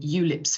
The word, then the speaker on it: ULIPs: of law inclusion plans we usually call them eulips for short so rhymes with tulips makes you think of